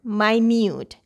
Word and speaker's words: minute: Here, U is saying its U sound.